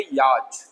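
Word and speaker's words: yacht: एंड सी एच से silent है याच, है ना? जैसे हम पढ़ते हैं याच, क्या पढ़ते हैं?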